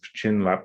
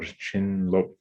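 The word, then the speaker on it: བྱིན་རླབས: So in the Tibetan there's two syllables of chin lap or chin lop, and the first of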